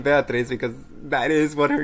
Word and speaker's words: Beatrice: Phoenix is saying that her name is not pronounced Beatriz, but pronounced how they typed it in chat right now.